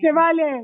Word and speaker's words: Chevalier: Chevalier.